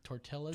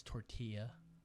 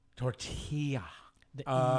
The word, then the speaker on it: tortilla: or something or took Tortelli or tilith do you like go ahead and say excuse me sir it's tortilla you gotta make the Y sound tortilla yeah no I don't